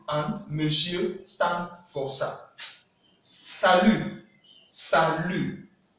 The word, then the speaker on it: salut: Salut, salut. Le T n'est pas prononcé. Salut in English means hi, hi but informal. And in French, the T is not sound.